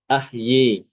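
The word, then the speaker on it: أحيا: Dan untuk ahya itu banyak ya. Ahya. Kata ahya ini Imam Maduri mengimalahkan mengimalahkan alif ahyi. Contohnya di surah An-Najm ayat 44. Wa annahu hua amata wa ahyi.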